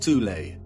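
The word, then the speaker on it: Thule: Prior to the rise of the Nazi regime, there existed an occult secret society within Germany called the soul society, sometimes alternatively pronounced tulle, that had subfactions within it.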